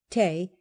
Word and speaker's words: tea: of beer is due tea or as it was then always pronounced Tay and gentle Anna whom